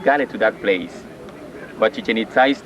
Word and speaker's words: Chichen Itza: Chichen Itza, this is the right way to say Chichen Itza. No chicken itza or chicken pizza like some people say. No, that is Chichen Itza.